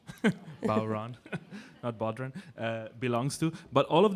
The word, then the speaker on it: bodhrán: know so something that looks like the bow run by the way that's how you pronounce it at bodhrán belongs to but all